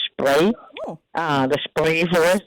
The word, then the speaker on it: Spree: little area that is spelled like spree but they say it like spray uh the spray for